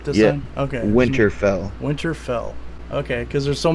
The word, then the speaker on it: Winterfell: am I saying it right this yeah okay Winterfell Winterfell okay because there's so many winter something